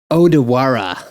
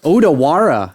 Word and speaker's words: Odawara: hak Sor D dude you're not saying it right it's odawara odawara odara well that's a